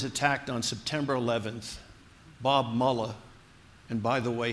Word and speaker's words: Mueller: and by the way his name is mullah not Mueller he's not a Nazi you may have your differences with him I bugs me when the commentators on TV always pronounce his word as if it were Germanic Bob Mallya is mullah